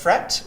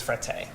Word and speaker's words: Frette: some people pronounce us fret which would be the French Connection and some people pronounce us fret eh but the right way does fret a fret a as the Italians with yes exactly so after